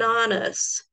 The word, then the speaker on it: honest: Porém, esse H aqui, ó, ele tem um som mudo.